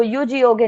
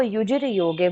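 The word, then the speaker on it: युजिर् योगे: तो युजिर योगे, आप उसको युज योगे नहीं बोल सकते, उसको आपको युजिर योगे बोलना है।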